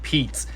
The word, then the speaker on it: Peats: app is just called Pete which rhymes with beats right so again just